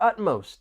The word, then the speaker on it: utmost: It's not the most commonly used adjective, but there are two syllables and the stress is on that first syllable. Utmost.